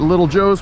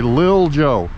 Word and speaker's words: Lil Joe: We've got Little Joe's place over there, and I mispronounced it. It's actually Lil Joe. There's no diddle in there.